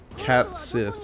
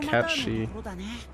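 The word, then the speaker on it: Cait Sith: The little Mickey Mouse, his name is Cat Sith, or how do you pronounce it? Cat She.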